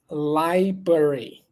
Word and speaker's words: library: libr library library library liary again no need to pronounce the very first R Library library library library